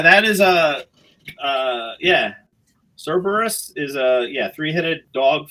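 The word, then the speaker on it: Cerberus: So, that's what Cerus uh Cberus Cberus.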